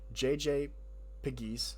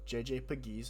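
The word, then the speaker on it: JJ Pegues: And then on defensive side, we brought in JJ JJ Piggies. I looked it up and I watched a YouTube video on him. JJ Pagiz is how you say his name and Tonka Hemingway.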